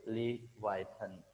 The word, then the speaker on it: Leviathan: very large, very big, and the word is Leviathan. Leviathan, that is the word, that is the pronunciation, Leviathan, and the meaning is immense size